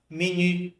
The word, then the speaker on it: menu: Mas em francês eu vou falar menu, com aquele biquinho no u menu.